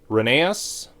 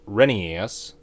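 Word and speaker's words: Rheneas: We've got Reneeas or as it's sometimes pronounced, Renas.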